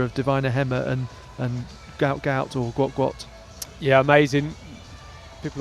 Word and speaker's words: Gout Gout: future rivalry with uh he's typically pronounced gout gout, but I know there's a desire to move towards guat the the original intended pronunciation.